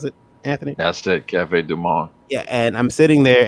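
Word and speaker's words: Café du Monde: Is that how I pronounce it, Anthony? That's it, Cafe Du Monde.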